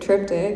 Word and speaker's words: triptych: it's a little hokey cryptic tryptic it Rhymes but tryptic um you know it's